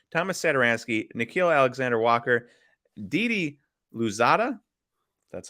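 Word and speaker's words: Didi Louzada: for josh hart thomas sedoranski nikhil alexander walker didi luzada that's how you say his name a future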